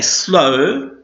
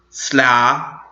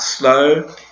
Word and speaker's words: slow: We don't say slow, which was how we would pronounce it if we pronounced the W. The W is silent here, so the word is pronounced like slow, which is the consonant, which is a vowel sound.